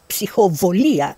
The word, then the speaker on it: psychobolia: Tanagras proposed the theory of psychobolia, or psychovolia in Greek pronunciation, to describe psychical phenomena.